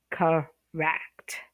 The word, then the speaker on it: correct: Okay, so correct stresses on the second syllable, so it's correct.